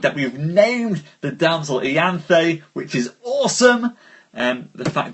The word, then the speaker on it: Ianthe: But yes, Danny won with Ianthe. Ianthe, which we learnt how to properly pronounce, is the name of the damsel.